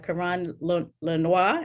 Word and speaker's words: Karan Lenoir: We have Karan Lenoir. Am I pronouncing that correctly? Yes, and I'm in Charlottesville.